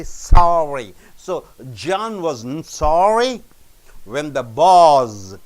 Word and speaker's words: John: the topic here John you don't say Joan you say John after Louisville is constant